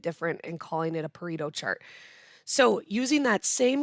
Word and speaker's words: Pareto: of before but a Pareto burrito um is pronounced like a burrito but with a p a burrito chart also